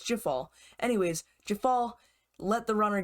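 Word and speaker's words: Djeffal: And by the way, I learned it was Jafal, not Diafal. I was pronouncing the J as the Y, like it usually is in some European countries. He's from France, so I thought maybe it would be Diafal, but it's Jafal.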